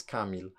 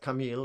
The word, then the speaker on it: Kamil: My name is Kamil. Yeah, not Kamil, as some people say, it's Kamil. Yeah, like most English names, stress on the first syllable.